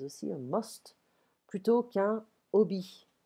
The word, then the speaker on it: hobby: un must, plutôt qu'un hobby. And I'm not pronouncing the H because it's French.